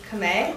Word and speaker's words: Khmer: can speak in Cambodian, which is Khmer. That's how you say it.